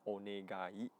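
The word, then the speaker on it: お願い: The third word that I think everyone should learn or should remember is onegai shimasu, or in short, onegai, onegai, like 4 syllables.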